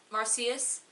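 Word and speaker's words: Marsyas: back into the world of marcius Island it pronounced marcius and to see all of the children again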